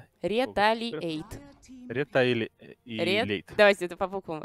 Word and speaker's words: Retaliate: Правильно произносить? Ретейлиэйт. Ретейлиэйт. Ретейлиэйт. Давайте это по буквам. Ретейлиэйт.